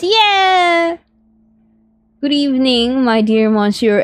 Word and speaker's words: Monsieur: Good evening, my dear Monsieur M.